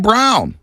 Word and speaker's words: Braun: think he's versatile Christian Brown it's spelled Braun but it's brown out of Kansas he